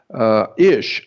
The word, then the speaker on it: ish: And the word man in Hebrew, M-A-N in English, but in Hebrew is ish, I-S-H.